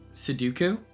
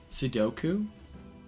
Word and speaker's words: Sudoku: Seduku. Is it really that? Hold on. Sudoku.